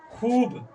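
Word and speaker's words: خوب: खूब खूब। इसमें वाव को हम खींच करके पढ़ते हैं।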